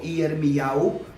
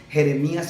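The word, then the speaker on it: ירמיהו: Por ejemplo, Yirmiyahu, ¿verdad? No se dice Jeremías, sino Yirmiyahu.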